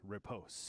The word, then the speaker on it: riposte: Prior's Riposte.